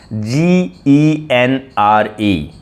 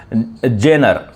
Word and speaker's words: genre: G E N R E. G E N R E. Some people pronounce it general.